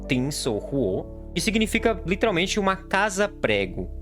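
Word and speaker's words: 钉子户: Existe até um termo em chinês que se pronuncia algo como Tin Sou Huo, que significa literalmente uma casa-prego.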